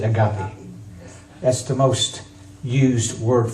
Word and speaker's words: agape: But the most well-known that you've all heard, and this is not the way it's actually pronounced, but we pronounce it agape.